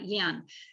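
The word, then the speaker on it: Jan: from denmark uh yen it's j-a-n but it's pronounced uh yen and and he said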